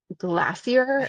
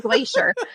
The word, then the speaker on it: glacier: but the word glacier people pronounce it like glassier it drives crazy like are we British why are we talking like that it's just a glacier and it keeps coming